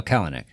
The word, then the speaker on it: Kalanick: Oh, Kalanick. Is that how you say it? Yeah.